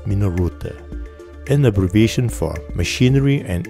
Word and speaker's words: Minolta: The pronunciation in Japanese is Minoruta, an abbreviation for Machinery and Instruments Optical by Teschema.